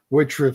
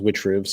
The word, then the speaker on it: Witchriv: Witch I'm gonna say witch, not IV because that sounds stupid. Witch rib sounds cool and edgy. I figured it I I thought it was witch ribs, so that's what I would go with.